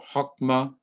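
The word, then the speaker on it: חכמה: And over on the left, it is hok, but it is not hak. Kokma or hokma means wisdom, skill, or aptitude.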